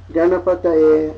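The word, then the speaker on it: गणपतये: So this one becomes, in context, ideally, the guttural nasal. So gum becomes gang. Om gang ga na pa ta. And here we have ya. But when you sneak under here, you see that ya has a line over it. It becomes yay. Om gang ga na pa ta ye. Om ganapataye.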